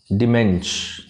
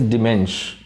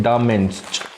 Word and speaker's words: DaMENSCH: Dimensh, the pronunciation is Dimensh.